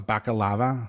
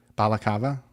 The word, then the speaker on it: balaclava: A bakalava. I don't know if I'm saying it right. Balaclava. Balaclava. It's like a ski mask.